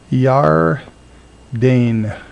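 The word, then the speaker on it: יַרְדֵּן: yar Dane Yar Dane in this we see that this word has to do with has two syllables in it the division is sort of right there and we see that this schwa is not actually pronounced in fact it's simply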